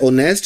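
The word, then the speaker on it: honest: तो हम जब इसको उर्दू में लिखते हैं तो हमारे पास क्या बनता है? ऑनेस्ट। इसका मतलब अलिफ से स्टार्ट हो रहा है।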